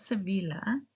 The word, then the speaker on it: Sevilla: So, now that you know, please don't go to Palma. de Mallorca. Palma de Mallorca. No, no palma de Mallorca. Mallorca. Same with other cities. Not Sevilla, Sevilla. Sevilla.